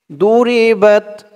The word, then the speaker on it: ضربت: আমার সাথে বলুন, ذلك بما عصوا وكانوا يعتدون ضربت عليهم الذلة أينما ثقفوا إلا بحبل من الله ضربت, ضربت বা দিয়ে তা ধরবে, বাত, ضربت, দদের উচ্চারণটা একটু খেয়াল করে করবেন।